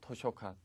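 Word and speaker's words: 図書館: 자, 치즈, 지도할 때 도자 발음, 도자는 발음이 두 가지가 나옵니다. 즈라는 발음하고 토 두 가지가 나오는데 토로 발음 나는 것은 딱 두 가지만 기억을 하시기 바라겠습니다. 의도하다 할 때 이토 되겠죠? 그 다음에 도서관, 토쇼칸.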